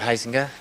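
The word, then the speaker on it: Huizenga: Uh, my name is Robert Heisinga. Uh, that's spelled H UI Z E N G A.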